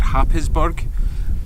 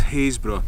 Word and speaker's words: Happisburgh: looks like it said hop his bug but I've been told on firm authority that is haze bruh and that you should